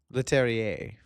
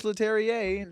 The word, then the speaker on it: Leterrier: Leterrier. Pronunciation.